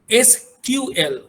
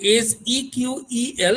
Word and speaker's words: SQL: যেটাকে আমরা বলি SQL, or it can be pronounced as SQL. অনেকে এটাকে বলে SEQEL, এটাকে স্ট্রাকচার্ড ইংলিশ কোয়ারি ল্যাঙ্গুয়েজ বলে এটাকে, ঠিক আছে?